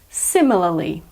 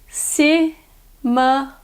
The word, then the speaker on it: similarly: in a similar way I'll say it again similarly the American pronunciation is similarly similarly word number nine is thoroughly thoroughly means